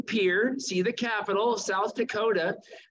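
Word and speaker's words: Pierre: is Pier that's right we have to learn how to say it pier and we're going to stay in peer see the capitol South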